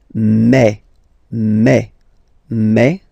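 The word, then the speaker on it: mes: aspect of it then remember that this a s here combined will give you the sound e okay so you'll pronounce it like me me okay the so logical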